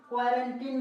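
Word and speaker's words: quarantine: अब यहाँ पे देखते हैं क्वारंटी, एक उदाहरण और देखते हैं यहाँ पे, QUARANTIN, क्या पढ़ेंगे, क्वारंटीनी, यानी कि क्वारंटीनी, इसको नहीं पढ़ना है। क्या पढ़ेंगे, क्वारंटीन, सीधा ई का उच्चारण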